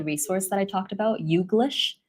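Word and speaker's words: YouGlish: that I talked about yish it's basically combination of U and English so you're missing just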